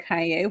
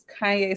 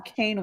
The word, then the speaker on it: Kanye: So yes, and I remember I didn't even know how to pronounce his name, so I used to call him Kane West.